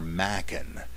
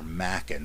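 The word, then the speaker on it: Machen: by the great Arthur Mackin m-a-c-h-e-n the same as J Gresham Machin spelled the same but pronounced differently just so you don't embarrass yourself the weird fiction writer is Arthur Mackin who was part of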